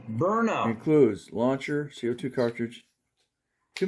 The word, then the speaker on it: Byrna: Again, bar SD launcher pronounced burnout.